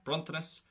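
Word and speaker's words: bronntanas: Well, in the first version, the S is going to be sharp, bruntanis.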